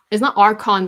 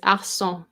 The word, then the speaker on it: Arçon: It's not Archon, by the way. It's Arçon. It has the CCD, the little thing on the bottom, so it pronounces as an S.